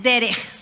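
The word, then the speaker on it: דרך: hebreo camino se dice derej Cómo se dice se pronuncia aquí atrás es una cf gutural derej a ver dilo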